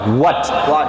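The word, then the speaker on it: what: হোয়াট যেটা আমি বললাম হোয়াট হবে না কিন্তু হোয়াট হ উচ্চারণ হয় না এটা অ উচ্চারণ হয় হোয়াট আমরা বলি কি জানো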